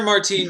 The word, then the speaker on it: Martine: name is Sir Martine sir Martine pronounces it almost like martini but without the a a without the e sir Martine do know